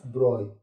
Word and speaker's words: Broglie: physicist louis d broy here gl is the silent we pronounce this known as broy in 1924 or ten